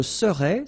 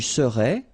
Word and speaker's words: serais: Je serais, same thing here, final S not pronounced. Tu serais, final S not pronounced.